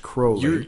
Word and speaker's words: Crowley: Oh, pronounced Crowley.